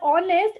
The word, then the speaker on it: honest: Because when we pronunciate word honest, it sounds start with O, right? Which belongs to the vowel.